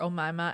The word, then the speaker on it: Omaima: is it bad that when I hear Omaima I think of Aunt Jemima I know you're yeah I know you're gonna say that it rhymes you knew I was